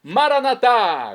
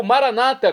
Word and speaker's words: Maranata: aramaico dialeto de Jesus maranat como dizemos nós católicos ou Maranata como dizem nossos irmãos separados os evangélicos ou protestantes não importa pronúncia o significado é o